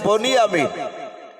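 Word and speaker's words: بنيامين: সালামের আরেকটা ভাই ছিল তার নাম আরবিতে যদি উচ্চারণ করা হয় বানিয়া আমিন কিন্তু বাংলায় বাপজি আমরা উচ্চারণ করি বাংলা বই লেখা আছে বনিমিন তাহলে ইউসুফরা এক মায়ের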